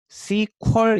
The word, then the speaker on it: SQL: 를 sql 이라고 쓰고 읽을 때 c 쿼리 라고 읽어요 c 퀄 이라고 요거 sql sql 하면 네 글자